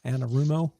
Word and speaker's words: Anarumo: Anarumo.